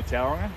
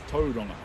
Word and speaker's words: Tauranga: a couple ways so a lot of people say Tauranga but that's not quite brick it's Tauranga so but either one's fine really um but Tauranga so